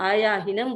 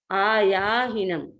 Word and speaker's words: आयाहीनम: तो right hand तक, इसका अर्थ ये है, इसका प्रोनाउंसिएशन आयाहीनम, आयाहीनम इस तरह से होता है। जो आयाहीनम मैंने बताया उसको आप गलत उच्चारण के रूप में समझें कि कोई व्यक्ति आयाहीनम बोलते हैं तो वो प्रोनाउंसिएशन ठीक नहीं है। ठीक प्रोनाउंसिएशन है आयाहीनम।